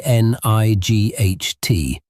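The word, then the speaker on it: knight: The word night is spelled K N I G H T, but you pronounce it night. At one point, English speakers actually pronounce that K, that hard G, and the guttural sound in the middle.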